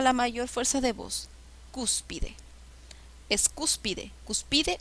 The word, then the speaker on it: cúspide: mayor fuerza de voz cúspide es cúspide cúspide o cúspide es cúspide la sílaba que lleva la mayor fuerza de voces es la ante penúltima sílaba qué tipo de